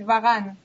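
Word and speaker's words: Varane: um who whose name Varan or is it Varan well it depends but if you say it like French way the French word is Varan Varan yeah okay uh so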